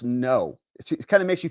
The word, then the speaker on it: Ngo: It's like, oh, he doesn't know it's Vietnamese. He doesn't know it's pronounced no.